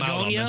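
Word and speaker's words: Bugonia: I'm not even sure how you pronounce this first one, Well, but I'm out on Begonia, it. I believe is how it is pronounced.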